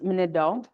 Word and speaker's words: Manitou: Manitou is actually pronounced Manido, which is spirit.